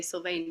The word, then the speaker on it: Sylvaine: the name that they would know would be pronounced like that but I always say syane because in my my uh mind it's like